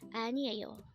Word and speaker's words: 아니에요: Anieyo. Anieyo. Again, our word for today is anieyo, and this is used to say it is not. Again, it's anieyo, and this is different from aniyo, which is no.